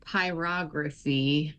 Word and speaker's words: pyrography: So it's pronounced pyography and it literally means to write with fire.